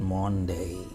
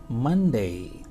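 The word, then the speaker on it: Monday: सनडे सडे ट इज नॉट मनडे नॉट मनडे this is मंडे मंडे मंडे and next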